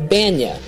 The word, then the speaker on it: Bania: No, it is pronounced Bania, like Kenny Bania, the Seinfeld character of the same name.